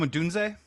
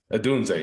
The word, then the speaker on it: Odunze: Oh, Rome Odunze? Odunze, yeah.